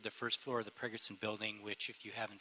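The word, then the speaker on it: Pregerson: engineering hyperion treatment plant pre-gerson i'm sorry pragerson i know judge pragerson you think i'd pronounce his name pragerson yeah pragerson building first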